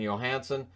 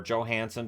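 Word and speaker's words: Johansson: check Carlson from strowman Johansen or Joe Hansen depending on how he's pronouncing it today at 11 36 I know he wants it to be Johansen this year the devil's then press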